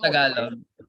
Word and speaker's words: Tagalog: It's not Tagalog. It's Tagalog. How many times we got to say that?